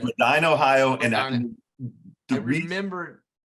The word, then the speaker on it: Medina: You introduced it as Medina, Ohio, that's everybody's pronunciation. Medina. It's Medina, Ohio.